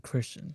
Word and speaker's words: Christian: So the H is silent in Christian, just so you know. Don't pronounce it.